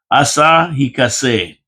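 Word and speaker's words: Asahi Kasei: No, you got to say this right. Asahikase separator plant. That's how you say it. Asahikase. No matter what you read, that's how you pronounce it.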